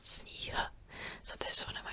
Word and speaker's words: sníh: Same with sníh, sníh. I'm not saying sníh, sníh. I'm saying sníh. This is a word for snow. Sníh, sníh, sníh, not sníh.